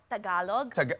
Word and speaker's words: Tagalog: Tagalog.